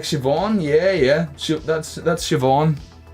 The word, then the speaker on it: Siobhan: non heirs tend to know on how to pronounce them okay like shivon yeah yeah that's that's siobhan shivon um oh